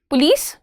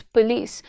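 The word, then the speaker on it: police: आ गई पुलिस आ गई right this word पुलिस नो you have to pronounce it properly it's पुलिस इट्स पुलिस द पुलिस arrived early पुलिस नहीं पुलिस पुलिस नो इट्स पुलिस द पुलिस arrived early पुलिस okay.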